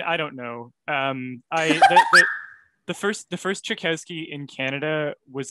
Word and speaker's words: Chiykowski: So we don't say it how any Polish person would say it now, and we're saying it wrong as a family. So I'm not going to correct anyone. I say Chiykowski.